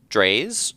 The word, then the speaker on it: Drais: Well, and I'll definitely second Dre's, which is spelled Drais, if people are trying to spell it.